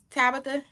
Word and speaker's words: Tabatha: are you good great is your name pronounced Tabitha yep okay always want to